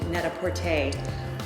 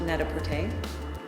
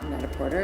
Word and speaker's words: Net-A-Porter: all thank you for coming and welcome to Neta pte um headquarters it's pronounced Neta pte and it's a play on words for PR